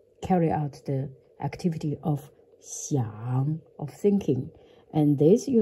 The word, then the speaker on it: 想: One is the pinyin way, X, I, A, N, G, and the third tone.